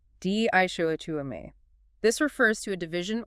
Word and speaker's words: dichotomy: Di show. Four syllables. stress on the second dishu.